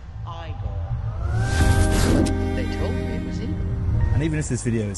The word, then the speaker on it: Igor: like I've been feeling right you must be eag now it's pronounced igore they told me it was e and even